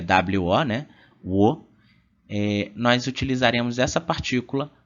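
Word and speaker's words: を: a partícula o né a gente pronuncia o mas é o som é o mais a partícula é wo né Nós utilizaremos essa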